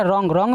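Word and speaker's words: wrong: लिखना नेक्स्ट आपका क्या रोंग मेंस गलत इसमें भी व के बाद ए रहा है तो व होगा साइलेंट बचा क्या रोंग मेंस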